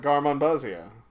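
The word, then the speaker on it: Garmonbozia: David Lynch would call it Garmonbuzia. I believe is how you pronounce it.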